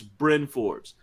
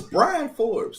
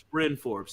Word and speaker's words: Bryn Forbes: say his name right it's brynn forbes learn the names of the players brian forbes that's what they say r-y-n it's bryn forbes he's been in the